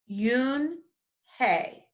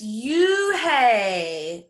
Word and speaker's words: Unhei: no no hey corrected it's spelled u n h e i it's pronounced yoon hey and she did it in a very polite way oh it's you hey the boy said like